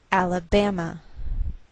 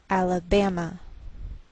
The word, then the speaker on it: Alabama: by a lowered Mark so the greater stress is on this third syllable we say Alabama Alabama what else is shared